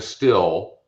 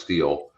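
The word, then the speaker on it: Stihl: little tiller like a still or steel i think it's pronounced steel today so i can grind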